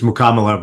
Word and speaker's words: Mukkamala: thank you for joining us I apologize I'm butchered your last name not at all happen all the time Alex it's muko but uh but no no problem mukla all right I'll try and get that right